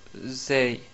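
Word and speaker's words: ز: En termes de prononciation, la lettre zay en arabe est équivalente à la lettre z en français.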